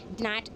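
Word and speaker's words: gnat: तो silent letter सारे नैट की जी साइलेंट होगा। नेट बोलेंगे, नेट बोलेंगे, काम बोलेंगे, एल साइलेंट है।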